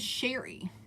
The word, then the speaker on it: Cheri: My name is Cheri. Cheri rhymes with berry.